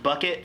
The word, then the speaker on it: Bouquet: And then kind of my favorite one is, it's pronounced bucket, spelled bouquet.